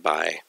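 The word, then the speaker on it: ×: age by subject group that x is usually pronounced by and it's an interaction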